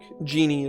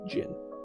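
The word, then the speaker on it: jinn: I think D&D spells it Ifriti, but I think the way you're actually supposed to pronounce it is Ifrit. Just like Genie is supposed to be Jin.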